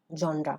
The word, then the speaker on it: genre: on keywords crew cast and genre genre yeah genre this is how we pronounce it okay so before you start this